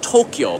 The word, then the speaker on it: Tokyo: Tokyo Tokyo's got and we pronounce it Tokyo by the way two syllables but because of the